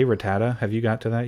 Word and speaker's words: Rattata: purple mouse creature and it pronounces its name rat tata rattata again the pokey rap leads to inconsistencies pronouncing it rattata again we discredit the poke wrap and consider the correct